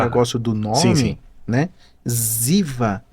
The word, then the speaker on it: Ziva: Ziva, percebe que é um ruído Z, né? Então é o modo mais fácil de você pronunciar qualquer coisa. Verdade. Entendeu? E obviamente Ziva vem de de inclusiva, né?